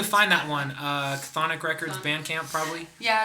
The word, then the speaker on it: Chthonic: Chthonic Records Bandcamp, probably. Yeah, it's on Chthonic Records. Spelled with a C.